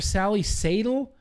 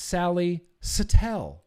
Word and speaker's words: Sally Satel: mean years ago right I've been calling her Sally satel and now I feel dumb because I love Sally Satele and apparently her name is pronounced Sally Satele and I didn't know that go follow all